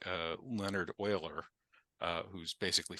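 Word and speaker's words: Euler: mathematicians like uh Leonard Oiler uh who's basically famous for having a name that is pronounced differently from the way it's spelled um created so much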